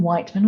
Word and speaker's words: Wightman: and then my surname Wightman, which is spelt in a really unusual way, like the Isle of Wight and then man .yoga.